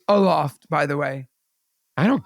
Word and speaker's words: Aloft: that's aloff Ikea's Hotel it's not alof show it's Aloft by the way I